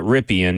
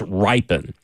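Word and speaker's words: Rypien: We're we're uh supposedly I'd have to fact check this, but mispronouncing uh Brett's last name. It's not Ripian, even though it's totally spelled that way. It's ripen.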